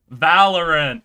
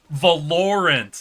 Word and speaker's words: Valorant: There was the It's the one that Milkblade can't pronounce. Valerant. That's right. That's what it No, wait. Valorant. There we go. That's the better pronunciation.